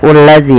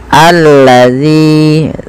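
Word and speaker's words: الذي: Ini bukan dibaca ulazi, ya teman-teman, tapi kita bacanya ketika ada hamzah atau alif di awal bacaan dan tanda seperti ini, kita baca dengan a, ya. Allazi, panjangkan zi 2 harokat karena mad tabi'i.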